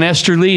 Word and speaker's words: Esterly: Hey, what I like about John Esterly, his name when it rhymes with Westerly, which was the birthplace of Guild Guitars, but the death place of Guild Guitars.